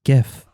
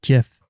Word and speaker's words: GIF: you're done it's like the people who say gif when the creators of the format have called it jif from the very beginning you can debate me